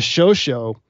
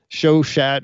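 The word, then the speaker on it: Chauchat: but more like Infamous it was called the show show or show shot or different there's different pronunciations I've heard but it was a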